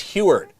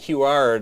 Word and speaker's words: Huard: butchering it every time it's heward yeah so here I'm saying who art all this time and uh isn't it